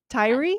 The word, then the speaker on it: Tyrie: Is that the correct pronunciation? Tyrie diary.